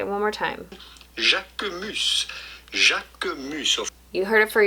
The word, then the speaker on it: Jacquemus: Jacomos. Jacomos. Of course, in French, the sound of the letter U is not U. Say it one more time. Jacomos.